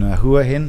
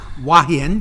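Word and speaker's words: Hua Hin: villa in uh in huin I'm saying it wrong how' you say wahan yeah that I'm going to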